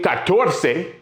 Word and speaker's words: catorce: The only one, 14, catorce, 3 syllables, and quince, 2 syllables.